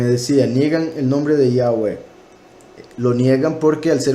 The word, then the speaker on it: Yahweh: Por ende se pronuncia el verbo hayá en tercera persona futuro imperfecto, se pronuncia Yahweh, y eso es el nombre del Todopoderoso, Yahweh.